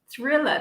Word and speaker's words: thriller: asking about the word thriller this is because of michael jackson for sure drilling thriller linguente is anxious it's not thriller okay not like the the american r the rhodic r sound as well as terminal